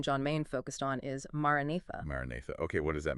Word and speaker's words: Maranatha: It has 4 syllables. Maranatha. Just let the Nice. sound carry Maranatha.